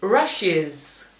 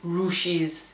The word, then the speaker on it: rushes: que supierais es que la u dentro de la palabra en la mayoría de los casos se pronuncia con una a rushes se escucha la a no nunca tendríais que decir u no se dice ruses se dice rushes en este cuadradito tenemos